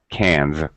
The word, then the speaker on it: cans: Cans. Cans with a Z.